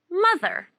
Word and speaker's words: mother: how old is your mother ma there mother notice the sound mother how old is